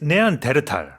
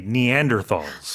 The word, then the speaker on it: Neanderthal: In English, we say Neanderthals.